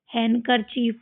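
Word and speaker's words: handkerchief: हैंकर चीफ पढ़ते हैं।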